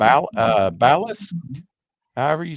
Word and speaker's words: Basilisk: uh to this character also uh B uh Ballas, however you say his name. Not in this issue, but um Another Marvel came up. Oh, Basil. Bas Basilisk. I'm sorry. Basilisk.